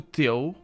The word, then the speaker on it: teu: So you need to pronounce reparei. Reparei. Reparei no teu.